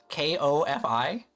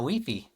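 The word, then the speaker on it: Ko-fi: So it's like it's coffee, right? K O F I. Anyways, have I never said we? I'm saying it right now. Weefy. But it's pronounced co K co Kofi.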